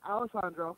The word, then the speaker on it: Alessandro: His first name is Alessandro with S's, like Alexandro, but Alessandro with Yes.